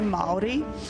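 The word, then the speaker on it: Māori: right Mal um that is a really good pronunciation um we say Mali it actually depends where you're from like what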